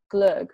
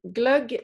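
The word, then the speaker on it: glögg: Swedish holiday drink that I I might butcher the pronunciation so you'll have to correct me but glug right yeah it's glug so glug is it's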